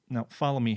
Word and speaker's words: whom: is occasionally annoyed when Stewie Griffin pronounces whom here a distinct voiceless labeler approximate. Yes, that is with a breathy H sound at the start.